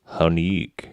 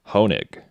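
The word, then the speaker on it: Hoenig: Baldersgate 3, but uh Baldersgate 1's composer, Michael Hanig. Honig.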